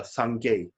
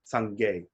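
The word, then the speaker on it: སངས་རྒྱས: Then last one is a Sangay. Sangay. That's a Tibetan language.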